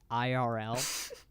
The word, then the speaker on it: IRL: my friends have instagrams I believe it's pronounced IRL sure if you want to be hip with the kids and just kind of say the letters oh man I need